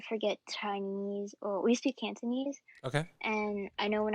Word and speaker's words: Cantonese: are you still pretty fluent in and it's pronounced Tanzanian? Is that it's pronounced? Cantonese. Cantonese.